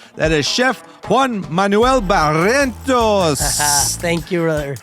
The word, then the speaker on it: Barrientos: is Chef Juan Manuel Barrientos. Thank you, brother. How did I do? Very good. How did I do with the name? Pretty good? You're learning to pronounce the R.